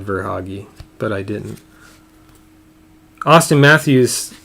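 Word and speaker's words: Verhaeghe: i guess then huh or hoggy it looks like i should have said ver hoggy but i didn't austin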